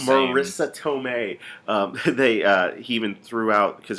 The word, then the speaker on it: Marisa Tomei: wrong last time too i can't say her name right like I called her eight different things Melissa Marissa elicits all is Marisa Tomei they even threw out